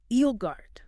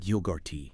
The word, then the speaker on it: yogurt: Another one that often gets mistressed. The emphasis should be strongly on the first syllable. Yogurt. Egart. Not yogurty. Precisely. Not yogurty. Listen for that strong stress on eio yogurt.